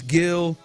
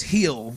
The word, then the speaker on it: Gil: Today they're running Framber tomorrow against uh Luis Gil, who is um or Luis Hill. I know that that G is silent.